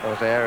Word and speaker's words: Auxerre: Auxerre, as they pronounce it in Auxerre. Auxerre and most of the rest of France.